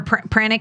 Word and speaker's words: pranic: So is that what pranic, am I saying it right, pranic or pranic healing is? Right. Either one of those you could say, because we also, besides Reiki, we also know the word chi.